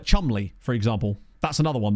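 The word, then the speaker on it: Cholmondeley: is weird there's a few like that like Chumley for example that's another one that people always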